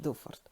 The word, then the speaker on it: дуфорт: раз як Це ваша брама називається мені кажуть дуфорт ну зараз дуже легко так я думаю вночі